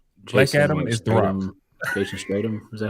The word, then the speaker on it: Jason Statham: Jason Statham. Is that how you say it, his name? Jason Statham.